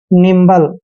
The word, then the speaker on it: nimble: दोस्तों एन का उच्चारण न करते हैं, आई को ई की मात्रा पढ़ते हैं, और एम का उच्चारण आधा मैं करेंगे, बी को बै पढ़ते हैं, और LE का उच्चारण ले करेंगे। निम्बल दोस्तों, निम्बल का मतलब